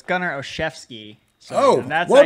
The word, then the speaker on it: Olszewski: Well, first of all, so it's Gunnar Olszewski.